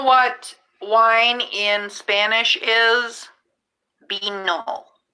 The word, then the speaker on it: vino: Vino. It's spelled V-I-N-O, but they say they're B's and they're V's.